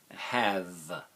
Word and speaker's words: have: Have, h, a, v. Silent E. H, a, v. Again, the A is the short sound of the A, short vowel sound.